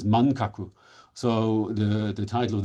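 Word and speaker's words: 漫画: appears first um but manga at that point was not um pronounced as manga it was pronounced as mankaku so the the title of the book in Japanese is mangaku.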